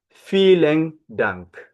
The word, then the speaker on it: vielen: Okay, you have vielen Dank. Vielen Dank. Remember, I told you V is F in Dutch.